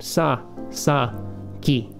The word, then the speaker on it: Sasaki: then somebody else we got here sounded out sa sa ki another very common last name sasaki and i